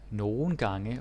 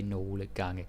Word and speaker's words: nogle gange: Then we have nogle gange, or nogle gange as it's spelled, but Danish people, myself included, we don't bother to say nogle gange. That's very textbook. So, nogle gange, just say it like that.